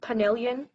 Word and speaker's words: penillion: Penillion?